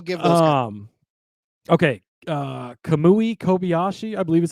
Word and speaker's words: Kamui Kobayashi: podcast book we'll give them um okay uh kamui Kobayashi I believe is how you say his name